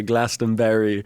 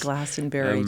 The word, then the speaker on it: Glastonbury: I say Glastonbury too. And you guys Edinburgh. Instead of Edinburgh, but how do you we're say splitting hairs here. Yeah. How do you say Glastonbury? How do you say it? I'd say Glastonbury.